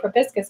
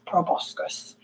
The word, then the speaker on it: proboscis: proboscis which is weird we say probiscus because it's spelled with an O a proboscis proboscis English is weird was